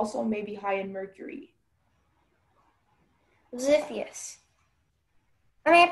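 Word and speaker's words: Xiphias: Ziphius. Am I pronouncing it correctly? That sounds right. Ziphius.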